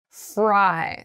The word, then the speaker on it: fry: eat fried rice so please be very careful about your L and your R in these words fly fry so fry fry fry so mouth together for the r sound fry fry fly so